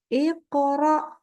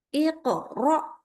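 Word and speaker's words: اقرأ: menghentak akhirnya berhenti semestinya contohnya adalah Iqra nyambung ya Bunyi pantulan Q kepada ro IQ yang tidak boleh begini Iqro IQ nah ini keputus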